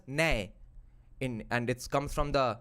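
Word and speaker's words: ন্যায়: It's nyay. In Bengali, we pronounce it as nay.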